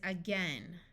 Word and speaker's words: again: short e sound said this word is again this AI has the short e sound and this a does